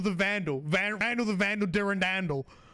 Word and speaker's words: Durandal: sword of Durandall and if you look up the pronunciation of that sword, it's uh durandal. Okay. To emphasize the second syllable. So even more different from Durandell. Are you saying that OG Bun just said Dur Randal? Yeah, it's it ends in doll. So like Durand doll like saying and Randall